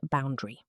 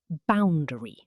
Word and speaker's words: boundary: Example, he set a clear boundary. No work emails after 700 p.m. Say it. Boundary. Boundary. Three syllables.